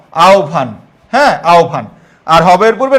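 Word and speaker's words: আহ্বান: অন্যটা হবে মনে রাখবা হবের পূর্বে যদি অকার অথবা আকার থাকে তাহলে হবরটা এরকম হবে লক্ষ কর আও এইযে হ এর জায়গায় হবে ও আর পরে বটা ভ আওভান হ্যা আওভান আর হবের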